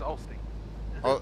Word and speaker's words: Olsztyn: We're not pronouncing the Y's. No, you're not pronouncing the Z. So yeah, it's Olsztyn.